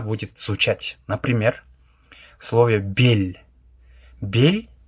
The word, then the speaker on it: бел: Бель пишется б, е, л, но как будто бы читается как бель. Л с мягким знаком.